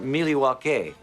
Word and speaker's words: Milwaukee: Indian name yes Pete it is actually it's pronounced milake which is El gonin for the good land